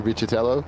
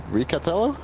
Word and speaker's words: Riccitello: coach for America that it's not actually Riccitello, the pronunciation. It's, I hope I'm saying it right, if it's Riccatello. It's going to be something like that.